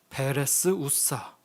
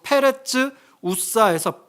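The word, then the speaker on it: פרץ עזה: 역시나 다윗의 고백에서 나온 6장 8절에 베레스 우사 원문 발음으로 페레츠 우사에서 페레츠는요 파라츠 파괴하다란 단어가 사용되었어요.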